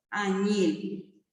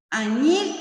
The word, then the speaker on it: añil: Añil. Añil es una palabra aguda. Termina en es añil, añil, porque recargó la voz en la última sílaba.